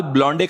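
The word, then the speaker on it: blonde: अपने बाल ब्लॉन्डे कराने गई है चुड़ैल। वो ब्लॉन्डे नहीं, ब्लॉन्ड होता है।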